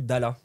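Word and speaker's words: ढाल: Bouclier en épalé, ça se dit Dala. Ça s'écrit la DH et là.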